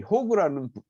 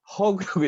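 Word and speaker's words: HOG: 소유하고 있는 사람을 이 호그라는 집단으로 얘기를 해요. 위에 보이는 것처럼 헐리 오너스 그룹 이렇게. 이거 발음 잘못하면 호그 되거든요. 그러니까 허그라고 얘기를 해야 되는데, 이 허그들은 이 회사가,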